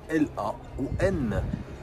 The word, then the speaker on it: Laon: Et ça s'écrit L-A-O-N. Soit Laon. Mais comme fond, ça se prononce Laon.